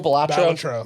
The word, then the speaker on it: Balatro: So I really it's hate that it's pronounced that way. Ballatro. Ballatro. Ballatro. Balatro.